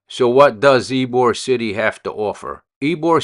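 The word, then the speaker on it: Ybor: the night and there's a place called eore City it's spelled why b o r City so what does ebore City have to offer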